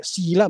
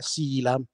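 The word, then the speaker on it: síla: ma significa semplicemente che la vocale lunga quindi non è Sila ma è Sila ci sei Frank però quando vedi l'accento storto verso la tua destra mentre leggi allunga la vocale Infatti è elensila lume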